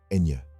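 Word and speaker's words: ñ: And in the midst of this exploration, don't forget the unique N, pronounced Enye.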